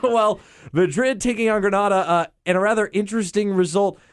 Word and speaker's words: Granada: Am I pronouncing that correctly? Granada?